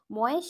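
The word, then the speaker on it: मैं: এই উচ্চারণটা তখন কি হবে, যেহেতু অয় জাফলা অন্তস্থ হয় ঐকারটা, তাহলে ময়ের সঙ্গে ঐকার যুক্ত হয়ে রয়েছে, ঐকারটা করে দেবো,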